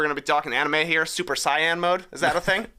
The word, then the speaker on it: Saiyan: go and we're gonna be talking anime here super cyan mode is that a thing Super Saiyan yeah yeah okay good I wasn't actually sure how to pronounce it I've read it so many times